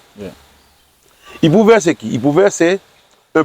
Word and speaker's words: Ipuwer: I-P-U-W-E-R. On le prononce Ipouver. Yeah. Ipouver, c'est qui?